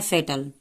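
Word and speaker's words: fatal: भी कह सकते हैं फिर एफ से शुरू है तो एफ को हम फ पढ़ते हैं ए को ए पढ़ेंगे ए यहां पे टी को ट पढ़ेंगे ए का यहां पे कोई उच्चारण नहीं होगा एल को ल पढ़ते हैं तो इसको हमको कैसे पढ़ना है फेटल फेटल इसको हमको पढ़ना है और इसका हिंदी अर्थ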